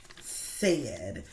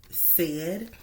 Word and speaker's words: said: by saying the word said, and we would repeat this to the student, said, and then we would explain to them that you can hear the S, but the E and then duh.